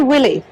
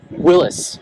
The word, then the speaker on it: Willys: But more than that, it's a 33 Willie. Yeah, Willis. Willis is actually how it's correctly pronounced.